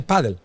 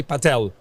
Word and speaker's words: padel: of paddle to paddle because we pronounce paddle in Spain we say padle we don't say padel or that there are some other pronunciation in Sweden in Denmark I don't know how you how you do it here in pad pel padel good other countries they say Patel because it's a little